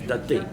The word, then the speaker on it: Tattai: But she told me, sir, this is not Duttai, but this is Tattai.